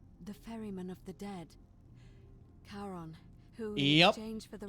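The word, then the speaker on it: Charon: it's just as you described it only your pronunciation is a little off the name you heard wasn't karen it was c-h-a-r-o-n caron the ferryman of the dead karon who is exchanged for the right yes figured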